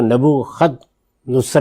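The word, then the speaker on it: نبوکدنصر: بابل کی حکومت، اچھا، بخت نصر، اس نے حملہ کیا، کسی اور دین کے ماننے والے، جس کو نبو خد نصر بھی کہتے ہیں، تو دونوں تلفظ اس کے ٹھیک ہیں۔ تو یہ جو شخصیت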